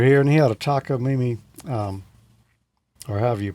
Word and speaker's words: Takamine: There was another time a friend of mine, Earl, was over here, and he had a Takamine, or however you pronounce it, acoustic guitar. Yep. Close. Takamine.